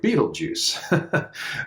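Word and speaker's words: Betelgeuse: of that star is Beetle Juice it's not spelled like the movie uh but it's pronounced the same way Beetle Juice which is kind of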